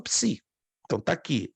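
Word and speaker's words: ψ: sim s sim não alguém tá erando aí P si ps psu ps isso Psi Psi a palavra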